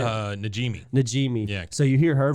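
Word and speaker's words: Najimy: I don't know how to pronounce her last name, but the lady that does Peggy's Namji, is that how you say it? Najimi.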